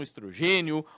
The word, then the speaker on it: estrogênio: Alguns falam estrogênio, outros falam estrógeno. Na verdade, tanto estrogênio quanto estrógeno tá correto. As duas pronúncias estão corretas.